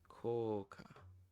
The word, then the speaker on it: 効果: 効果効果 Koka. So this is ko here at first, and then an u, and then ka. 効果 Koka.